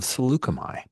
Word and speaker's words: Saleucami: We have set or I have decided to set this game on the planet of Succomi, and that's the pronunciation I'm going with for most everyone saying it all NPCs wise. Slugami is a planet that